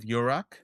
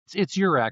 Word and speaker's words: URAC: I always say like this is my rack, that's your rack.